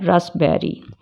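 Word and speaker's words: raspberry: bird नहीं बोलते cupboard रसबेरी अब इसमें स्पेलिंग में आप देखेंगे पी है लेकिन इसको बोलते क्या है रसबेरी अब नेक्स्ट में एस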